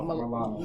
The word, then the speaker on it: Milano: Milano.